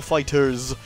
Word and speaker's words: FighterZ: Dragon Ball game called dragon bull fighters as a speech pronounced though it looks like Dragon Ball fighter Z but what do I know so I'm literally just